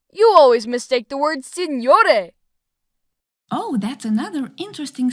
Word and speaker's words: signore: You always mistake the word signore. Oh, that's another interesting syllable. GN is pronounced with a unique sound, similar to the ni sound in words like onion.